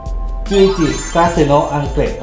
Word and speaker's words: 11-Gatsu no Anklet: เรา จะ มา รีอแอคชั เพลง อะไร ครับ จุจิ กสึโน อังเก็ด ครับ อ มัน อ่าน ว่า งี้ เหรอ ใช่ อีก ที ได้ มั้ จุจิ กาสึโนะ อังเก็ด อ๋อ หรือ กำไร ข้อ เท้า แห่ง ความ